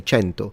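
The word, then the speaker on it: cento: 100 is kenu and in classical Latin is kenum and then in ecclesiastical Latin it becomes kentum. Centum because it's an Italian pronunciation and in Italian we say chento.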